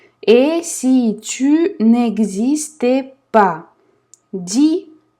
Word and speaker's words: dis: Dis, S не читаем.